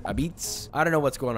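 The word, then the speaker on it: apizza: number 29 Connecticut which they call this New Haven pizza but they also pronounce it abits I don't know what's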